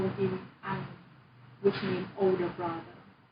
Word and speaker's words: anh: It's like not pronounced as an H. Yeah, so Southern people will say this, like I told you, I'm not entirely sure how Huế is your family hometown, how a Huế person will particularly say this word, but in the South we will say anh. So a lot of the time Vietnamese ending sound is not pronounced.